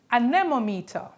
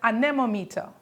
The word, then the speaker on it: anemometer: Yes, this is used to measure the speed of the wind and it is called an anometer. Try to pronounce that and learn to spell that. It is an anemometer.